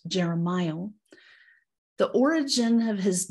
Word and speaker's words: Jeremiel: And as you heard, it's pronounced Jeremiel.